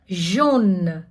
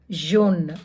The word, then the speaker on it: jaune: So first A + U போட்டோம்னா ஓன்னு pronounce பண்ணணும் ஃப்ரெஞ்சில். For example l'automne, une aubergine, jaune, yellow color, une mangue, jaune.